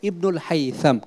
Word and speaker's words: ইবনুল হাইসাম: এড করি আমাদের যে মুসলিম মনীষী এনাদের নামের উচ্চারণটা আমাদের খুব ইম্পর্টেন্ট কারণ ইউরোপিয়ানরা নামগুলি সব নষ্ট করছে যেমন ওরা এইযে এবেসিনা বলে এভেরুস বলে ইবনুল হাইসাম এটা আসলে আরবিতে এখানে লেখা দন্ত সুতরাং হাইসাম সাম সবাই বলতেছে এটা ইবনুল হাইসাম কেমন আমরা বিশুদ্ধ উচ্চারণ করব কেমন আমরা এবার আপনার